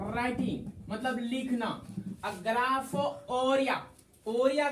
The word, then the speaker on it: orrhoea: ग्राफोरिया, ओरिया का अर्थ होता है फ्लो, डिस्चार्ज। ओरिया का अर्थ क्या होता है? Flow, discharge. यहाँ लिखो टेक्निकल टीम। यस सर। हाँ, ओरिया, ORRHOEA, इसको पढ़ते हैं ओरिया।